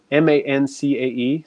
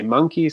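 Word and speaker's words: mancae: they're called you know you'll hear many different pronunciations of this word but it's ma n CAE some people say monkey some people say man I'm Kai all sorts of things but that is the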